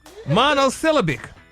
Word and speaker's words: monosyllabic: Say syllabic. No, pull it together. Squeeze them all together. Monosyllabic. The emphasis on the A is wrong. It's just one damn A in it.